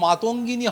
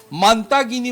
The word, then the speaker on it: মাতঙ্গিনী: যিনি সঞ্চালক সঞ্চালনা করছেন তিনি এই দেশের অন্যতম মনীষী বা দেশের স্বাধীনতা সংগ্রামী মাতঙ্গিনী হাজরার নাম উচ্চারণ করতে গিয়ে তিনি তাকে মান্তাগিনী বলে উচ্চারণ করলেন তার নাম।